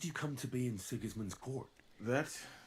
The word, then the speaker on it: Sigismund: Luckily, Sigismund, as I'm Luckily for told I'm me, supposed to pronounce it.